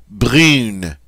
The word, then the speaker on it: brune: represents the nasal sound but whenever an E follows a nasal pair, the nasal pair loses its nasality. We pronounce it like we regularly would.